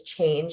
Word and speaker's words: CHNGE: One is Change, and it's a clothing company. It's spelled CHNGE.